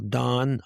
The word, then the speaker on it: Daune: Well, Don, I certainly appreciate the conversation today.